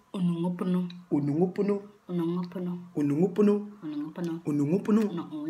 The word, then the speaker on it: Onongopono: So this is how you pronounce it. Onongopono. Onongopono. Onongopono. Onongopono.